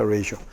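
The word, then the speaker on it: ratio: 발음이 레이시오입니다. 레시오.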